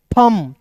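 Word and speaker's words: thumb: एच यू एम बी तो एम भी जब एक साथ रहता है तो ये भी आपको जो है भी साइलेंट होता है टी एच का थ एम का दोस्तों म थंब थंब नहीं और यहां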